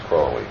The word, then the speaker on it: Crowley: name is Alis Dei because that I am Holy my enemies say crowy and wish to treat me fly so now you'll never forget how to pronounce it it's crowly cowly um how do you